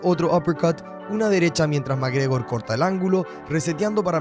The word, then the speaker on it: McGregor: Y sí, es McGregor, así se pronuncia, Conor McGregor.